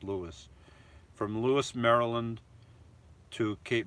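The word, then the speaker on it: Lewes: from from Lewis Maryland it's it's spelled differently for my name it's pronounced Lewis from Lewis Maryland to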